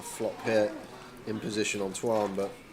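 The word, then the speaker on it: Tuan: It's Twan, T-U-A-N. Not Tua, the quarterback for the Dolphins.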